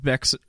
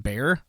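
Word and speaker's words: Bexar: the rural areas of beex wait pronounced bear bear county it looks like beex though um and terrorize anyone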